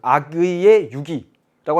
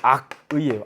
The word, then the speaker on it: 악의: 아기의 유기라고 하니까 어떤 친구들이 이렇게 적는 거예요. 어떻게 어린 아기를 버릴 수가 있다니. 여러분 이게 아니고 악의예요. 악의.